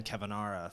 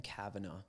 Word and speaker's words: Kavanaugh: I think it's Ben Kavanaugh. Yeah. Kavanaugh, Okay. yeah. Well, I'm gonna keep pronouncing his name wrong.